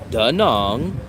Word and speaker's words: Da Nang: I said, how do you say Danong? And they said, Danong.